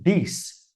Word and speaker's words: this: cada um, o primeiro i ali, que é pronunciado, né, ele é mais curto no this, this.